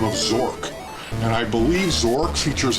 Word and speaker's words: Zork: completing the quest of Zork. But I never looked into it just because it rhymes with dork, and it sounds like